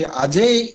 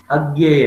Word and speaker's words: अज्ञेय: ये जो प्रयोगवाद कवि अजय उसे उच्चारण करते हैं या अन्य उच्चारण करते हैं सर? अन्य मैं बताऊंगा आपको, या अजय है सर? उसका उच्चारण है अज्ञेय है, अज्ञेय अज्ञेय।